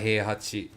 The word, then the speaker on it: Heihachi: Mishima Heihachi. Which is a long E sound in Heihachi.